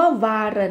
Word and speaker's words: waren: คะ เปลี่ยน รูป นั่น ก็ คือ คำ ว่า วน มี คำ ว่า เคย อยู่ นั่น เอง อ่า เคย อือ ฮึ คำ ว่า วน นะ คะ แปล ว่า เคย เป็น เคย อยู่